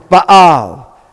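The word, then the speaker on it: בעל: We've got two patachs, Az. We've got open, closed. How do we pronounce it? Baal.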